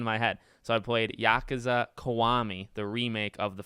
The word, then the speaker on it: Yakuza: made the video on my third channel it's Yakuza and I wanna I wanna remain uh faithful